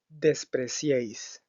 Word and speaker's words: despreciéis: Otro ejemplo en específico es despreciéis. Despreciéis, donde el triptongo surge de la unión de las vocales I, la vocal E y la vocal I nuevamente.